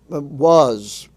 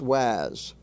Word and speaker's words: was: have the word was was is pronounced was not was there is no word in English uh pronounced Waz this is the kind